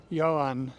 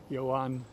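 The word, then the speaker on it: Joan: the brothers Bel Bazar and probably pronounced yoan here j o a n you would say Juan in some places I'm pretty sure it would be Yan so this was built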